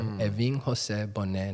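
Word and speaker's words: Evin José Bonet: the four names so my actual name when you pronounce it which was the name my mother gave me is eving Jose Bon and then her last name which is n so I got four eving Jose Bonet advis has a little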